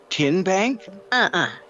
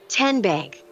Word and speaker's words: TN Bank: How do you say the name? TN Bank? Nope. Tin Bank? So what is it? 10 Bank. 10, as in Tennessee.